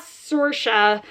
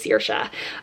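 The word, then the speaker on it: Saoirse: appreciated our main character searsha she pronounces it not sorsha like the actress i think she pronounced as sirsha um she went on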